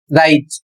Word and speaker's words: write: इसमें पहला नियम है जब भी कोई शब्द डब्ल्यू आर से शुरू होता है तो डब्ल्यू साइलेंट हो जाता है। यहां पर उदाहरण के माध्यम से देख सकते हैं। लिखा हुआ है राइज। डब्ल्यू आर आई टी ई। इसका सही प्रोनाउंसिएशन होगा राइट और इसका अर्थ होगा लिखना।